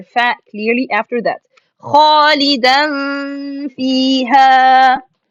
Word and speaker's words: خالدا فيها: So it will be خالدا فيها, خالدا فيها, خالدا فيها, like this. It's an easy, alhamdulillah, but make sure from these tricks it's not خالدا فيها or it's not خالدا فيها, because sisters do